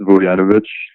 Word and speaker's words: Vujanovic: So it's pronounced Voyanovich.